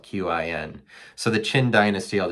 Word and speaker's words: Qin: The first one was the Qin Dynasty, and it's spelled Qin.